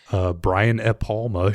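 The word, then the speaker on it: Brian De Palma: So Brian E. Palma showed up and he told me that. Wait, the But D is silent?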